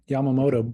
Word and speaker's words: Yamamoto: wetsuits out of help me, how do you pronounce the rubber, the Japanese rubber? Yamamoto? Yeah, Yamamoto.